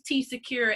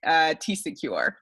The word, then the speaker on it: TCecure: So that's how you get TCecure. Nice. So it's pronounced, the second part is pronounced secure, like the regular word secure, but starting with a C.